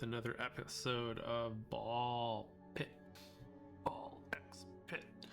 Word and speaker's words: BALLxPIT: Ball X pit. I don't really think the X is pronounced in this game, but I like saying it that way because I can.